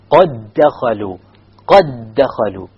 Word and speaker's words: قَدْ دَخَلُوا: You merge it so the qalqala is dropped. قَدْ دَخَلُوا.